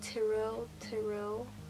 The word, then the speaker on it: Tyrell: and people always pronounce our name. Oh, they call him Tyrell. I can't remember how they say it, but we pronounce it Tyrell.